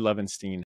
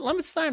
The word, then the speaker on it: Lovenstein: Is it Lovenstein or Lovenstein? Have I been saying it wrong this whole time? I say Stein. Most people say Steen, okay. And it does not bother me one iota.